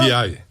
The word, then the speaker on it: Ndi: Puis là, Ndi NDI, c'est comme ça qu'on les prononce.